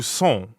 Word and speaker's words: sont: So that would be où sont. Où sont? Right. Où sont. Sont. Sont. Sont is nasal, so it rhymes with bon, like at the beginning of bonjour.